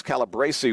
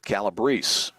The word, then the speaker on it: Calabrese: I think I said Alex Calabrese when we started, but now I realize he pronounces it Calabrese.